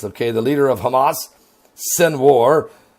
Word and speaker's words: Sinwar: I like to call his name Sinwar, because that's how you spell it. S-I-N like sin, war, W-A-R like war.